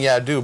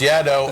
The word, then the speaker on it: Yaddo: Yad today the Yad I've been saying Yad do but Barbara Livingston corrected me the other day it's actually how do you say it I say yat Yad okay good so potato okay right exactly it's yat and uh and I think